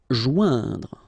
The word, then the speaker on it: joindre: Joindre. Okay, remember O-I-N together. Ouin, okay. Joindre, joindre.